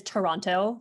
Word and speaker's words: Toronto: It actually is Toronto, like the way it's spelled.